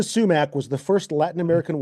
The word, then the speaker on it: Sumac: Emma was criticized, and Emma is spelled YMA here, and sumac like like the like poison oak.